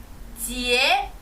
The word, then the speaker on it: 节: 절은 지에 해주시면 됩니다.